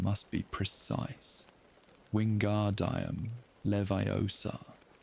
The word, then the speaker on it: Wingardium Leviosa: Wingardium Leviosa. The accent is on the gar in Wingardium and the O in Leviosa.